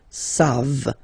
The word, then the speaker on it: savent: And then il, here classic ending for il and elle at the plural form, ENT, you don't pronounce it, so you get the sound savent, v, savent, okay?